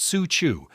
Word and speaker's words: Cuju: Here we find a game called Cuju, pronounced su chu, which translates directly to kick the ball with foot.